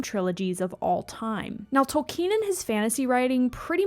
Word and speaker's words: Tolkien: man named JRR Tolen and yes it is pronounced Tolen not tol Ken split into three parts The Fellowship of the